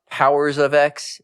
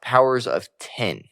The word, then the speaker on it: Powers of X: powers according to Hickman it's not actually pronounced powers of X it's pronounced powers of 10 but this is House